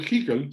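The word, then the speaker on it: Hückel: Haeckel es la pronunciación correcta, fue un físico que se puso a estudiar en detalle qué pasaba con las distribuciones electrónicas.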